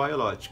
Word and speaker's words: agnolotti: Então, esse aqui é o ailote, que se escreve agnolote, mas pronuncia ailote.